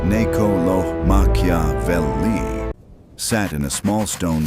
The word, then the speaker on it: Niccolò Machiavelli: named Niccolo Machiavelli, pronounced Ne-co-lo Ma-chia-vel-li, sat in a small